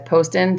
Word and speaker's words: Poston: a little weird and it says it's post in Arizona I'm not familiar with this city and pretty if my geography but I'm gonna start saying it as post in sorry if I've been